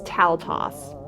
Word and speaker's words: Taltos: Okay, I was like really mispronouncing it. It's Taltos.